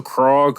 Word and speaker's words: Krog: yeah um went to krog what is it croc avenue krog street how do you spell that k-r-o-g like frog but like with a k all right um k-rock